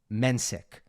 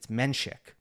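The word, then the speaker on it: Menšík: His ATP profile, the pronunciation, it's Mensik. That's what he says. But then you have a lot of Czech people who will tell you, no, it's Menchik. My friend Rob Werner, who was broadcasting the Kopkana Challenger last week, just asked Jakob, okay, how do you actually say it? And it is indeed Menchik.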